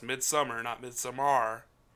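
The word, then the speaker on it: Midsommar: pretty predictable but it's midsummer it's not mid somar because that's not how you say it it's midsummer they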